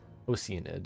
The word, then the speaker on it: Oceanid: Oceanid. That's how you pronounce it.